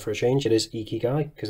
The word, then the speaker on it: Ikigai: a change it is ikigai because that's how they actually spell it phonetically on their website thankfully which is very